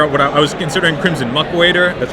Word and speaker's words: Crimson Muckwader: And it was actually a last-minute addition because I was trying to figure out what I was considering Crimson Muckwader, that's how it's pronounced, as my 2-drop because I wanted another 2-drop.